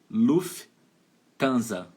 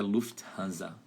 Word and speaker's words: Lufthansa: não vai falar ó luff tanza ela fala luff e juntar o t t h a e o restante não é Lufthansa Mas você vai falar Luft e depois vai falar hanza Luft É bem interessante